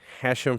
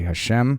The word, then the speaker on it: Hashem: It has many pronunciations. You could, the proper pronunciation is probably Hashem. Hashem.